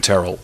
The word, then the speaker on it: Tyrrell: You'd look at it and pronounce it Tyrell or Tyrell. Right. You nailed it. Tyrrell it is.